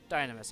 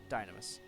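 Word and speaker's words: Dynames: its additional weaponry or dynamis i keep saying it wrong dynamos and yours is a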